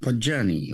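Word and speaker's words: Podgajny: There's a lot of vowels in a row here. P-O-D-G-A-J-N-Y. Good luck. I don't know. Hopefully there is a pronunciation here. Johnny is just Podgany. Podgany. Okay.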